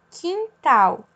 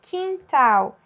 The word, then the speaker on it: quintal: Por exemplo, quintal, ki. Eu não faço um cu, uá, ou um cui, certo? Eu falo ki. Eu não escuto o U. Então, quintal, queijo, quieto, ki.